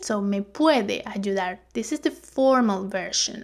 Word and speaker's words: ayudar: So notice the pronunciation of this consonant. I'm from Venezuela, I pronounce it ayudar, ayudar. But depending on the region, it will be something like ayudar or ayudar, okay?